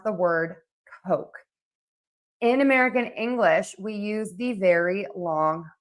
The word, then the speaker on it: Coke: an English class, and she is teaching how to pronounce the word Coke, and she says cock.